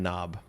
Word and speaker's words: knob: k for dead man knob makes sense yeah even though the cave the k is silent maybe we should make